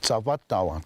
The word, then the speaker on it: Tsavadawa: my Hopi name pronounced Tsavadawa. Tsava is short.